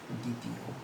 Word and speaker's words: দ্বিতীয়: এই যে দর সঙ্গে যে বটি, সেটি উচ্চারিত হচ্ছে, খেয়াল করো, উচ্চারিত হচ্ছে না। উচ্চারণটা কীরকম দাঁড়াচ্ছে? দ্বিতীয়।